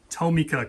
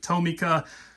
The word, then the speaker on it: Tomica: Now, I pronounce it Tomica. Bob pronounces Tomica. He was telling me just before we started rolling here that he's even heard our friends over in Japan pronounce it both ways as well.